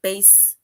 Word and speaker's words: bass: b a s right base rhymes with case so we basically say base which is which rhymes